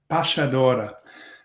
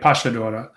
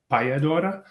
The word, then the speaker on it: Payadora: Well, uh it's pronounced Pashadora. Uh in the uh in the dialect of of uh of Buenosarees in Monte Vido, uh yeah, it sounds like Pashadora.